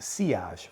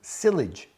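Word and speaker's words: sillage: Then there is seage and it's actually pronounced seage. When I first started the channel, I was calling it silage. No, that is a mistake. I wouldn't recommend that you call it silage.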